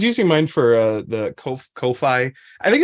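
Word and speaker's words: Ko-fi: I don't know how to say it it's Kofi because it's like a picture the idea is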